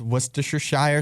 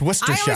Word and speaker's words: Worcestershire: Worcester is I guess it's Worcestershire. I always thought Worcestershire. Worcestershire. Sheer. Like Shire, but See, sheer.